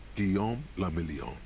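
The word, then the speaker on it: Guillaume Le Million: meant only one thing guillaume lamillion yes if it doesn't rhyme you're not pronouncing it right out of the dazzling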